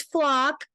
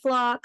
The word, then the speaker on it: Flach: So my last name is Flach. Looks like Flach. It's pronounced flock, like flock birds.